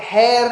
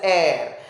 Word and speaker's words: heir: So वहां पे hair नहीं बोलते हैं, we pronounce it as air.